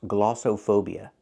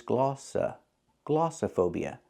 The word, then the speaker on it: glossophobia: The word is not pronounced glossophobia. The O in the middle is not pronounced with the long O like no and go. It's not glossophobia, it's glossophobia. The O in the middle makes a short sound like cup and up.